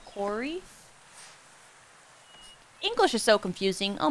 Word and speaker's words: Quarry: actresses fig it out you're supposed to pronounce it Corey English is so confusing